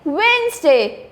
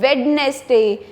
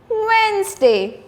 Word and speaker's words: Wednesday: You have to say it like Wednesday. Don't say it Wednesday. The D letter here is silent. Wednesday.